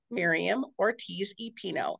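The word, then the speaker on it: Miriam Ortiz y Pino: we have a very special guest joining us Miriam Ortiz epino and that's how to pronounce it correctly right correct wonderful Miriam is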